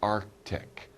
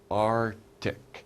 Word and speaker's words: Arctic: It's called the Arctic. Arctic. We don't really pronounce that C. We don't say Arctic. That's 힘들어, right? We say Arctic. Arctic. We don't really pronounce the C.